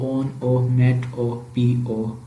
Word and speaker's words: onomatopoeia: एनोमेटोपिया जो प्रोनाउंस्ड होता है वो ओन ओ मेट ओ पी ओ, onomatopoeia is defined as